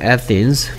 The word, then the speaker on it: Athens: Athens. Athens. 한국사 아테네 이른데요. Athens라고 발음합니다. Athens.